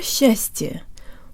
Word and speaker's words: счастье: Together, S and ch sound like sh, with the tongue high and forward, and to Western ears it almost sounds like there's a Y sound built in.